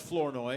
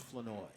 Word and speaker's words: Flournoy: the preseason they said Flory Flory. Yeah. And I was like no it's the R is silent. It's French.